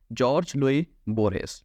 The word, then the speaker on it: Jorge Luis Borges: इसकी प्रोनाउंसिएशन हम काफ़ी गलत की जाती है, इसकी एग्जैक्ट प्रोनाउंसिएशन है जॉर्ज लुई बोरहेस।